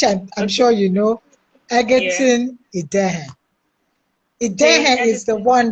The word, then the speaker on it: Egerton: i'm sure you know eggerton is there is the one that is tricky so don't say it as an i say it as an e okay okay so he's